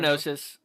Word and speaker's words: gnosis: straight up gnosis roll your gnosis the G is silent I know I know